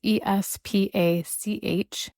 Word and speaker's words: Espach: It's Espach.